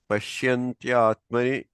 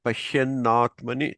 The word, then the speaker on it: पश्यन्नात्मनि: Yatro paramate chittam यत्रो परमते चित्तम् niruddham yoga sevaya निरुद्धं योगसेवया yatra chaivatmanatmanam यत्र चैवात्मनात्मानं pashyantyatmani tushyati. पश्यन्नात्मनि तुष्यति। I think I said it wrong. Yeah, right. Pashyannatmani tushyati.